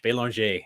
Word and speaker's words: Belanger: because I failed French my last name is French belong if you wanted to pronounce it like you know Canada or France and I failed because